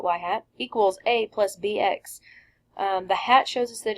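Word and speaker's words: ŷ: a regression line it's y hat you pronounce that y hat equals a plus BX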